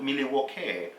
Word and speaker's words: Milwaukee: But he came in and he was like, Milwaukee, well, as you know, this is an Indian name and it's pronounced Milwaukee.